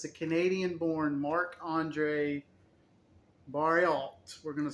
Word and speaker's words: Barriault: Barriault. See, you know how to pronounce French names.